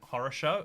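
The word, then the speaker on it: хорошо: Fun fact, the Russian word for good is pronounced horosho.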